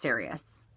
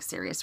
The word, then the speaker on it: Sirius: Well, I have a Keepall 55, and I have had, I think it's pronounced Sirius. I know it's like Sirius Radio.